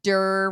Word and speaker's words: Dir: Dr. Dir, rhymes with Gurr.